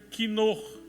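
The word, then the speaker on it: כינור: lembra-se de Davi e em hebraico harpas se pronuncia quinor Não confunda quinor com caldo quinó tem nada a ver davp de Davi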